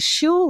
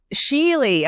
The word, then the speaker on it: Schuele: uh Michael Gentry and Christopher Kitty is it Shu or shoule how do you pronounce it it's she Sheely okay I was completely off my bad um